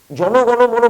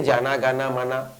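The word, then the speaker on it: জনগণমন: জ্ঞান মানা করছে সব এটা রবীন্দ্রনাথ যেভাবে লিখেছিলেন যিনি লিখেছিলেন তার ভাষায় তো উচ্চারণ হবে বেসিক্যালি এটা একটা নাউন বিশেষ পদ সে ভাষায় তো উচ্চারণ হবে জনগণ মন কিন্তু সারা ভারতবর্ষ জুড়ে জানা গানা মানা ভাবা দরকার বাঙালি তিনটি পয়েন্ট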